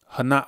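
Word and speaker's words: Hanokh: the Flood right um hanak or or hanak right that's proper pronunciation hanak was 65 when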